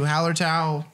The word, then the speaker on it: Hallertau: I commend you, Hallertau. That's not how I said it the first time, but that is the correct way to say it.